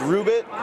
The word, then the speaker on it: Rubit: do you pronounce that it's ruben not rubbit and it's a dog